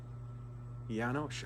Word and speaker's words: Janosch: Janosch. Are you pronouncing his name right? I think so, yeah. He taught you that? Shh at the end.